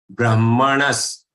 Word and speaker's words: Brahmanas: Brahmanas. Again, this ha and ma sequence should be clearly understood. First ha and then ma.